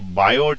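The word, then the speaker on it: Biot: बात ये है कि बायोट में टी साइलेंट है। तो उसका मतलब वो बायो है सर, बायो। ठीक है।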